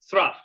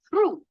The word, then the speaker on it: through: o'clock in the afternoon, his day's work was through. When the Hold it, Shakespeare. row, T-H-R-O-U-G-H is pronounced true.